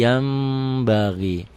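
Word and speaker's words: يَنبَغِي: ketemu ba samium Basir yanbagi Yan yanbagi dibacanya Jadi yambagi kenapa karena nun mati nun mati nun sukun ketemu ba satu kata satu kalimat bunyi n-nya berubah menjadi m ada bindang sedikit sedikit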